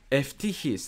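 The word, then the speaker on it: Eutyches: Anti-Chalcedon response, Flavian was tainted by Nestorian sympathies, though which taints everything he did against Eutychius. Eftichius, that's really how it's said, but that will be too confusing.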